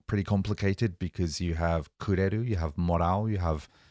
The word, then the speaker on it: くれる: to use the verb kureru? Sure. First of all, what's the pronunciation? What's the intonation here? くれる？くれる？ Kureru? Da-da-da. And it seems to be kind of going up because you're asking it as a Right, question.